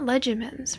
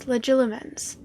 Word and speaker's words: Legilimens: It's not Legimens, right? Because there's extra letters. Legilimens.